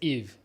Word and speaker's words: Yves: No, my name is Yves. It's Yves. You know, it's Yves, but S is silent and the Y is E.